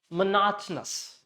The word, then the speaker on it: monotonous: Say monotonous. So this, leave out this O, it will convert into schwa. This also schwa, this also schwa. Both of them will become schwa.